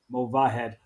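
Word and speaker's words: Movahed: keep an eye out for Cena mavahed thank you David you pronounced it correctly I realized that I was switching to H and the V but it's mova head uh Cena we'll keep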